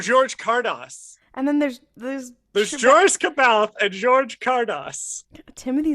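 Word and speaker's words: Joruus: No, it's Joris. It's Cardass, isn't it? Oh, George Cardass. And then there's Joris Cabalth and George Cardass.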